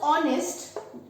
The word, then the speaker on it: honest: Now when we pronounce honest, we produce a vowel sound.